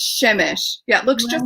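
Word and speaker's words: Przemyśl: But how do you pronounce the village in your book with a P that they lived in? Yeah, Shemish, because it looks just like that. It's not even a P? Yes. Przemysl.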